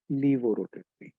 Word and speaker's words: levorotatory: In British English, it is LAEVO. In American English, it is LEVO. But pronunciation is same, levorotatory.